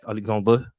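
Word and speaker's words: Alexandre: behind the striker behind alexander lacazette alexander that's how alexander said he's supposed to pronounce it uh martin erdogan i'm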